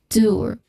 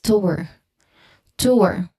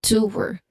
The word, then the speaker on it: tour: So tour as in same as pronouncing or initiating g there is also a dip thong there t once again tour. Now the it is very unlikely but there are still some people who pronounce this word as to tour. It adds you know a necessary second syllable which is what we should not do.